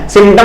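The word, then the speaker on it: symptom: सिम्टम में पी होता है, SYMP, सिम्टम होता है, जिसमें पी साइलेंट होता है, और साइलेंट के बजाय यहां पे पी लिखा ही नहीं है, जो कि क्या है?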